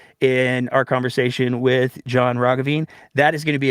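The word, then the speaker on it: Roggeveen: sorry not Dr John Ravine it's a hard G you'll understand why that's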